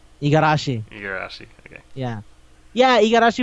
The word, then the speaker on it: Igarashi: But Uh, yeah, I feel like Okay, that's why I Otsuka- never worked on I can't pronounce his name either. Iragishi. Igarashi.